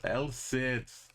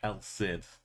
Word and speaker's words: El Cid: El Cid. El Cid. There was a British TV show called El Cid. From pronouncing it El Cid because Cid is like the name Sydney.